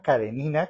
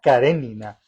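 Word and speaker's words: Karenina: No es Ana Carenina que hemos dicho siempre, sino que es Ana Carenina.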